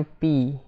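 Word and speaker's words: phi: Ya, ini bacanya pi nih. Dibacanya pi. P H I pi.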